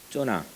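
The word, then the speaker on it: יונה: 근데 이 요나의 이름 뜻은 요나의 이 히브리어 발음은 쪼나입니다. 쪼나.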